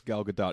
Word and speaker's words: Gadot: So let's address Gal Gadot because that's apparently how you actually pronounce her name.